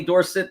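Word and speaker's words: Dorsett: they weren't buying Tony Dorset playing at uh at pit and I say Tony Dorset because he was still dors because that's how it was it's how it was said dors yes but but those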